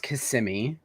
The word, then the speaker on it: Kissimmee: It is pronounced Kissimmee. Kissimmee.